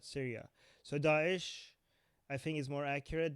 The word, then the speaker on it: Daesh: Did I pronounce that wrong? Probably. Daesh, yeah.